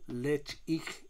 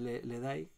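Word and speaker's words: Ledaig: un trío porque estamos hablando del listón del lecht como realmente se dicen en vez de le dais porque le dais significa Refugio seguro y en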